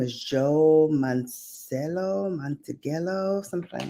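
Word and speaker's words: Manganiello: years um I think his name is Joe mancello montegelo something like that let me look up the pronunciation of his name Joe manginello okay oh Sofia Vergara has asked the court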